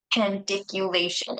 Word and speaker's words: pandiculation: so uh how do you how do you pronounce p pation is that right p pation p pandiculation pandiculation okay I just wanted to be sharing that